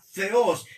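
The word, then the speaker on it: θεός: La palabra teo es la palabra griega para Dios. Teo se pronuncia theos y eso quiere decir Dios.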